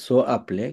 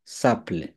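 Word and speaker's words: s'appelle: এর জন্য আসলে এখানে প্রনোমিনাল ভার্ব হওয়ার কথা সো আপলে, কিন্তু উচ্চারণ করতে হবে কি? সাপলে।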